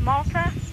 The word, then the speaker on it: Malta: Next call, Malta, New York. Is that the way to pronounce it? No, it's pronounced Malta.